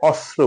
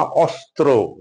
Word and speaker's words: অস্ত্র: অস্ত্র, আমরা প্রায়শই ভুল করে অস্ত্র বলি, অস্ত্র না অস্ত্র, সেরকম বস্ত্র।